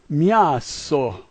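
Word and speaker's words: мясо: When you see an M, it sounds like M, but the backward R is ya, and the C is S, and the O is O. So this is miaso, miaso.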